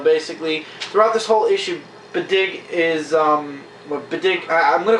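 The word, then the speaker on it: B'dg: And I can't pronounce the name of the squirrel Green Lantern. It's Bedig. B''DG. Bedig.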